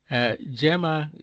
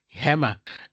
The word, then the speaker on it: Gemma: which are pronounced differently, like Gemma, for instance, Gemma in English, but for someone who is, I think, Spanish, they would call it Hammer.